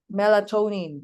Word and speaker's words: melatonin: Melatonin melatonin parang brusce ko na ewan. In other countries, it's pronounced as melatonine.